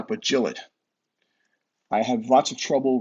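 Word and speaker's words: Gillott: pen room and was told that the correct pronunciation of his last name on this pen is not July but Jill it I have lots of trouble referring for this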